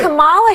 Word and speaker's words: Kamala: Kamala Harris's name. If you say Kamala as opposed to Kamala, if you put the emphasis on the wrong syllable, we know that because